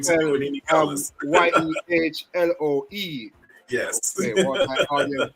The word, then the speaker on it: Yehloe: Yehloe.